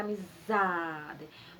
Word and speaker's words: amizade: Porque ele é a sílaba mais forte, então fica amizade.